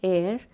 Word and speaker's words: heir: h e i r where the letter h is silent we pronounce it as air eres so what do